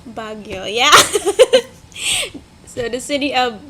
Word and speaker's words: Baguio: Baguio. Baguio, yeah.